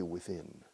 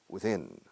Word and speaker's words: within: Tiempo so you say within within within within stress the second syllable but the opposite of